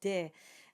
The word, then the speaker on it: des: In speech, we might say des autres saisons. So if you're looking up pronunciation on the internet or in dictionaries, you will see it indicated as an A sound. But in singing and in formal French, we say des.